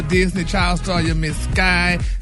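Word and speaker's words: Skai: child star you'll miss sky jackson that's how you pronounce the name brad with skye s-k-a-i yes yeah let's pray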